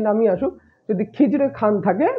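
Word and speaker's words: Khizr Khan: খিজরে খান বা খিজির খান, যে নামই আসুক, যদি খিজরে খান থাকে বা খিজির খান থাকে, খিজরো খান থাকে, নামের একদম বিকৃতি ঘটিয়ে দেয় ওরা, ওটাই অ্যান্সার হবে। আসল উচ্চারণ কি হলো? খিজরে খান।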